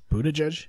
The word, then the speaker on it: Buttigieg: Buttigieg? Buttigieg? Is that how you pronounce it?